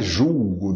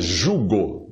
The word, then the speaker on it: jugo: E é bom sempre esclarecer que não é julgo desigual, é jugo desigual, sem L.